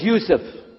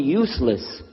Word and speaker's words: Yusuf: work on it shaolong my name is Yusuf he say Yusuf he said he said you're very good I wish you teach my wife she keeps mispronouncing it she calls me useless home delenn now how